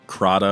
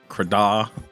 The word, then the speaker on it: Crahda: I mean, I still have people asking Crahda or Crahda. I mean, I guess you could go anyway with it if you want. But. So Crahda. Yeah.